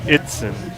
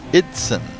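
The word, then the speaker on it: Eidson: Also from my stint on PA a couple weeks ago, found out their last name is pronounced Itzen, E-I-D-S-O-N. Itzen.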